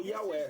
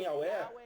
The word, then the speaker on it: Yahweh: Ele diz que a letra hebraica Vav é pronunciada como V, não como U. Esse erro surgiu devido ao maltrato das gramáticas hebraicas alemãs, que usaram W, onde o inglês usa V. Note que o V alemão é pronunciado como F em inglês.